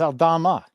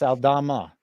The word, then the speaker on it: Aldama: In the Memphis game, you got Aldama over 9.5. Aldana. Aldana. It's Aldana. There's an Aldana and an Aldama. Oh, it's someone else? No, it's Santi Aldana. It's Aldama. Yeah, it's Aldama.